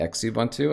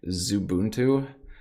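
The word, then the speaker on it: Xubuntu: uh evidently it's not x ubuntu i was told the other day that it's it's like zubuntu but i don't know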